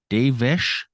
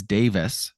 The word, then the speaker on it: Davis: me laugh out loud he says devish Schneider I know it's Davis but I can't unhear how it sounds like everyone except for Barker is pronouncing his first name the same way on its own it sounds fine but when people are saying it full it's Davis Schneider it's like he's Dave he's Dave but he's Dave ish he's